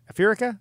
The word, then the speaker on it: Aferica: Aferica? Aferica. Aferica. Aferica. Aferica. It rhymes with America.